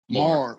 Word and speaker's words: Maher: Is it Maher or it's Maher? Maher. Yep.